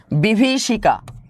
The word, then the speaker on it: বিভীষিকা: না প্রত্যেকে উত্তরগুলো করবেন বিভিসিকা বিভিসিকা এটা উচ্চারণগত দিক থেকেই দেখতে পারতেছেন যে বিভি ভটা একটু দীর্ঘ হয় বিভিসিকা এটা হবে কি